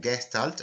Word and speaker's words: Gestalt: de la gestalt con este término que se pronuncia gestalt es una palabra alemana se consiguió un cuerpo